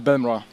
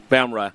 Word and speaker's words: Bemra: So, how's that last name pronounced? Yeah, exactly. It's Bemra. Bemra.